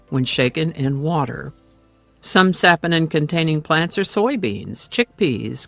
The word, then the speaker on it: saponin: I keep wanting to pronounce it saponin, but it is sapinin.